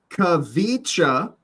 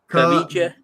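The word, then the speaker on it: Khvicha: Kavicha. That's his first name. Kavicha.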